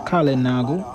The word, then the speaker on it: Kalinago: Kalinago is he my name, and Kalinago. That is how to pronounce it, and Kalinago.